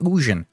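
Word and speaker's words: Ugin: Uh going against an Ugan Canal, it's actually pronounced Ujan. I will never call him Ujun or whatever. He's Ugan to me.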